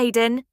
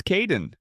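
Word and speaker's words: Kaeden: Hi Aiden. It's Kaden.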